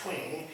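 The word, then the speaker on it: Twenge: I believe her last name is pronounced Twing.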